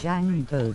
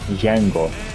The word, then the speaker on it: Django: Django, the D is silent. Boom. Django.